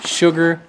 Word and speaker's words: sugar: Water, sugar, water, sustenance, want, food. Hungry, hungry, foodwant, sustenance, water, water, sugar, sugar. Sugar. You pronounce sugar, sh, sugar, but the h is silent.